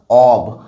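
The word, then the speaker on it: of: এখানে বলে দিই এইটার উচ্চারণ কিন্তু অকে এটার উচ্চারণ অব আর যখনই ও ডবল এফ লিখবো তখন সেটার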